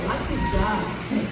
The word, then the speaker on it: Alakija: ou Alaquijan, como ele se identificava, mas cuja pronúncia original do nome da família na língua tonal Yorubá é Alaquijan, de onde vem Yorubá, Acarajé, Abará, Patapá.